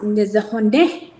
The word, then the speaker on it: Nizhóní: stuff like that, and it's pronounced Nizhóní. There's always that ne at the end, and I have trouble with it, so don't feel bad. So it's Nizhóní, and so that always stood in my brain.